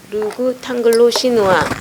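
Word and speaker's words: le goût anglo-chinois: 주지하다시피 르그 탕글로 시누아 여기 발음을 구라고 하지만은 르구 그런데 뒤에 t를 연음해서 앙글로에다가 붙여서 읽어야 돼요. 르구 탕글로. 근데 이 A도 대문자로 써야 되고 C도 대문자로 써야 하는데 다 소문자로 변해 있네. A도 대문자, C도 소문자, 나라를 가리키는 거니까. 그래서 뒤에 T가 앙글로에 붙어갖고 탕글로로 발음이 되는 거예요.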